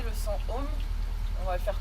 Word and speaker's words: Om: Et on va prononcer le son Om. On va le faire 3 fois et ensuite on va changer le sens des bras et des jambes. Sachant qu'on le prononce Aum.